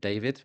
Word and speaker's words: D4VD: Sung by, I believe you pronounce it David, but it's D4VD. I think he pronounced it David.